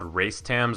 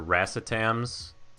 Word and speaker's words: racetams: And there's also synthetic nootropics, which are called racetams or racetams. Literally it's spelled race, T-A-M-S, racetams.